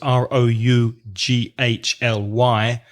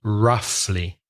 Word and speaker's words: roughly: approximately that number roughly be careful of the pronunciation of roughly the spelling is ro ug h ly but the pronunciation roughly roughly 16 in the class